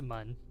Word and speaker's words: Mun: like a z or sorry for if I mispronounce it moon or M or M it's it's mun it's m good that's good that gets people